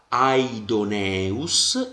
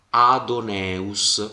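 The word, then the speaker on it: ἀϊδωνεύς: sillaba diversa e quindi io leggerò aidoneus e non leggerò adus quindi yota non è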